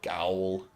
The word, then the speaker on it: Gaol: But then in Bloodborne, you go to Gaol. I was like, oh, that's jail?